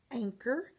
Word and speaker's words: anchor: Anchor, CH digraph. Okay, and the C does have the K back on it because we don't hear the H.